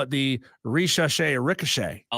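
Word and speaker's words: Risacher: The Hawks picked Francis Zachary Richache, which both of us butchered that name big time until we had our guest on in the last segment.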